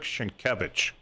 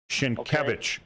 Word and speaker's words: Sienkiewicz: It was written by Henryk Sienkiewicz, right?